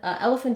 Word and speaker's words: elephant: Then elephant is a little unusual. We have the letters PH saying the f sound like they do in phone.